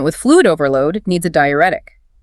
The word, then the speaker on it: diuretic: And a patient with fluid overload needs a diuretic. Pronounced di u ret ic.